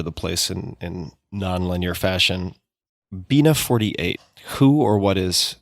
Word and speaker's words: Bina: Bina 48. Who or what is Bina 48, if I'm pronouncing that correctly?